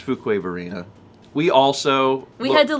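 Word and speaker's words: Fuquay-Varina: still have no clue how to pronounce fukuov arena it's fuquay marina we also we had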